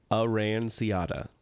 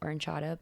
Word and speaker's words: aranciata: It's an Italian orange type soda, and it's the pronunciation says aranciata. Oh. When I worked at Via Napoli and Epcot, I'm pretty sure we pronounce it oranciata, but I am neither probably wrong.